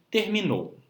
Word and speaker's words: terminou: E o nosso último grupo de palavras, nós temos o grupo das palavras oxítonas, que são aquelas palavras que possuem como sílaba tônica, ou seja, a sílaba que nós pronunciamos com mais força, a última sílaba como em terminou.